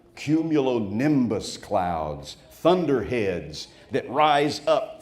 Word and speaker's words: cumulonimbus: And it is from a cumulonimbus cloud that tornadoes are born. Cumulonimbus, 5 syllables.